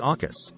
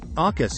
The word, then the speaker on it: AUKUS: How do you even pronounce Aukus? Something along the lines of awkward came the rise suggestion from one Brussels diplomat this week.